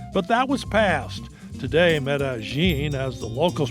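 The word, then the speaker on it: Medellín: go on vacation but that was passed today metagine as the locals pronounce it is transformed while Colombia is still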